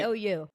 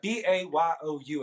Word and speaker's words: bayou: Spell it for them, because some people Yeah, people say- BAYOU. Yeah, BAYOU. It ain't Bayou, it's Bayou, because I'm from the Bayou country.